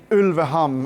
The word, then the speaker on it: Ulveham: talk about the song it's called ulam and I'm pronouncing it in Norwegian it means wolf skin